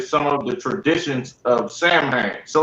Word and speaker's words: Samhain: to spell it because I heard how it was pronounced and I'm like, damn, it don't sound like how it's spelled. Oh, so like it, sir, it's Samhain. See, you know what I'm saying? Sound women that it ain't spelt like that though, but that's the pronunciation of it.